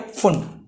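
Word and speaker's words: Pfund: इसको क्या बोला गया, फुंड, पी फुंड बोला गया वैसे तो, फुंड, पी फुंड, ठीक है। पी साइलेंट यहां पे ध्यान रखना, ठीक है।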